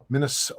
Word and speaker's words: Minnesota: They actually pronounce the T like a T. Minnesota.